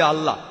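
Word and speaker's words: الله: যে ভাই স্করফিল্ড একমত উচ্চারণের কিছুটা পার্থক্য তারা বলে আলা আমরা বলি আল্লাহ উচ্চারণ কিছুটা আলাদা তবে শব্দ দুটো একই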